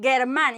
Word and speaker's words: Germán: If I put the U with Germán, it doesn't make sense. It doesn't mean anything. So it's Germán.